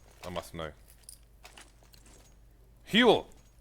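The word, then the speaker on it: Huell: Huel. That's 2 syllables. Kind of. It is 2 syllables.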